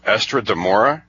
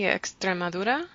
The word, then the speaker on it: Extremadura: all guys from help me with a pronunciation pronunciation or estra demora it's on the border what you go oh maybe Extremadura okay okay this was a border area next